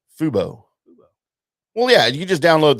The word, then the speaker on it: Fubo: And coming soon, our RHS TV, right, on Fobu, anywhere you do your streaming. What's Fobu? Did I say it wrong? Fubo.